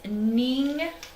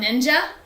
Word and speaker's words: NingXia: So, as you can tell, I've already said it enough times, but how do you say this word? It's NingXia. Oh, it's not ninja?